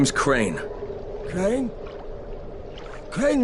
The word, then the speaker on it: Crane: no my name is crane crane crane rhymes with train and brake and sane and gray and rain and plain and the other kind